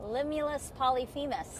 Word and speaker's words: Limulus polyphemus: Limulus polyphemus.